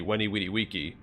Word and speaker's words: Veni Vidi Vici: Because V's in Latin have a W sound. So when people say Veni Vidi Vici, it's actually Weni Widi Wiki. Which sounds ridiculous, so I understand why they changed the pronunciation.